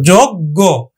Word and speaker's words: যোগ্য: শিক্ষার্থী বন্ধু এইখানে দেখো শব্দের শেষে যদি গিয় থাকে তাহলে কিন্তু গগের মতো উচ্চারিত হয়, এজন্য কিন্তু যোগ্য উচ্চারিত হলো।